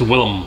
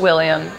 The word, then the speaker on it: Willem: Wait, am I saying his name wrong? Is it Willem? It's Willem. It's Willem, yeah. I even wrote William.